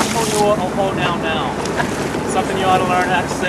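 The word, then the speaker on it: Puʻuhonua o Hōnaunau: So, because it lives here in Honaunau Bay, the full pronunciation of this particular pu'uhonua is pu'uhonua ohonaunau.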